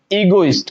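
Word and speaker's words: egoist: दे रखा है बिल्कुल मैंने इसका जो उच्चारण करने का वे है वो बता रहा है ए गो यानी एगोइस्ट क्या बोलेंगे इसको एगोइस्ट ठीक है ना यानी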